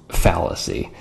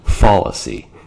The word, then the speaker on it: fallacy: speech uh first off the word is pronounced fallacy not fallacy you're not falling down and personally I find it